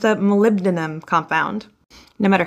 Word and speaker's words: molybdenum: It's one single layer of molecules thin, and it's a molybdenum compound.